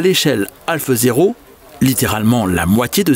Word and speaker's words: HO: Par commodité on prononce Ho aujourd'hui, mais si l'on se replace dans le contexte de l'époque, il faudrait plutôt parler de Half 0.